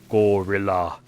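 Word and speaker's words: Guerrilla: how to pronounce it she thinks that gorilla games is pronounced gorila like the great ape and I think that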